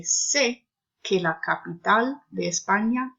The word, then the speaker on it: sé: So just know that it's pronounced sé, like say in English, but shorter, sé.